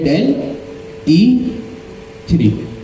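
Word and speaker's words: DALL-E 3: अगर आपने नाम सुन रखा हो डेल ई थ्री का इसको आप यूं प्रोवाइड प्रोनाउंस करेंगे डेल ई थ्री।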